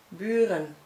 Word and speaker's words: buren: If you see again, but if it's an open syllable, you should pronounce it as u. And I never heard that in your language, but let me give you an example in Dutch. Buren, neighbors.